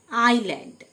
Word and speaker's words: island: আইল্যান্ড, ISLAND, আইল্যান্ড, মানে দ্বীপ, এস লেটারটি silent.